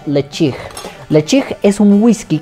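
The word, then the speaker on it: Ledaig: es un Bueno si lo leemos literal se pronunciaría led pero como es en lengua glic cosesa se pronuncia le chig le chig es un whisky que yo tuve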